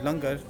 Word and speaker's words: Langar: So, look, we have Langar. There's no accident in my mind that the word hunger rhymes with Langar.